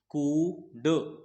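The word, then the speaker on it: could: सीओ यू एल डी यहां पर L silent होता है एल की आवाज नहीं निकालनी हमको तो इसको हम पढ़ेंगे कुड क्या पढ़ेंगे कुड कुड कुड डीओ से बना डू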